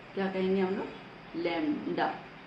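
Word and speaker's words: lambda: लैम्डा। B silent होता है लैम्डा।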